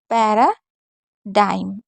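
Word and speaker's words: paradigm: है इसी तरीके से जीएम में भी जी साइलेंट होता है जैसे पैरा डाइम अब देखिए जीएम से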